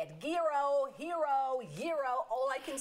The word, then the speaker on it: gyro: At Taziki's, we say gyro.